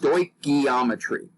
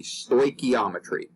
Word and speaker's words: stoichiometry: the greek words meaning measuring elements and it's pronounced stoichiometry a lot a lot of students stumble on this pronunciation but just practice it a little bit and you'll get it pretty quickly stoichiometry okay and this is basically the method of